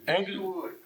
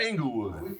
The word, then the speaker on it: Englewood: He was born and raised on the south side of Chicago in the Englewood area. How do you pronounce that, Doctor? Is it Englewood? Englewood, not Inglewood.